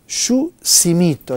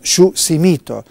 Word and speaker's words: Yushimito: se encarga de y simito me corrigió tien razón pero es difícil pronunciarlo hay que decirle a María Luna yus simito anda decir yus simito todo el tiempo Leo lecciones para un